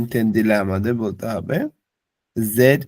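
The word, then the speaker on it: ぢ: তেন দিলে হয় জি এটা নরমালি ডি আই হ্যাঁ কিন্তু এটার উচ্চারণ হবে জি এটা হচ্ছে শুধু জি আর এটার উচ্চারণ যখন আমরা করতেছি তখন ডি জেড আই জি মানে জি বা আটকে যাচ্ছে জি উচ্চারণ করতে হ্যাঁ এরপর ডি ইউ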